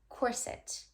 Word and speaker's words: corset: You have a pink corset. You have a pink corset. No, you have a pink corset. Putting the emphasis on the first syllable with the soft I in the second syllable.